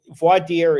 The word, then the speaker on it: voir dire: So voir dire is two things. Say that again for me. I want to. Voir dire. I'm never going to be able to pronounce that. VOIR. Voir dire. French, voir dire.